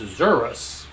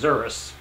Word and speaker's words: xerus: learned is that it's not pronounced zebras it's pronounced zerus of course this being on an alpha chart